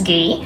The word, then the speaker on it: Guy: is french name my husband's name is guy in french it's gay and so i figured